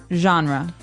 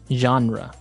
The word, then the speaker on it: genre: We say genre. Genre word genre. This kind of sounds French.